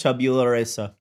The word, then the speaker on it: tabula rasa: It's tabula rasa. But it's salad. Pronounced tabula rasa. It's tabula rasa because it's Latin.